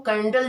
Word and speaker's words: candela: तो पहले के ज़माने में जो है वो ब्राइटनेस को कैंडल जला करके, जो आप लोग कैंडल जलाते हो, कैंडल से मेजर करते थे, इसीलिए इसको कैंडेला बोलते हैं।